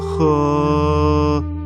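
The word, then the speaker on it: 呵: The pronunciation of he. Similar to the English word her, the pronunciation is assisted by the tongue. When exhaling to pronounce this word, pull the tongue back slightly and slowly exhale air from between the tongue and the upper jaw.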